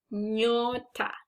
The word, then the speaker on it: nyota: Nyota. Nyo. Remember when we are doing these sounds? Nya, nye, nyi, nyo, nyu. Like Kenya. So nyota.